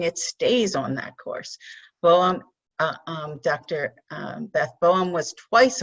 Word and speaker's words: Boehm: Okay, first, the name is Boehm, and it rhymes with game, or as I tell my students, they can remember it by rhyming it with lame.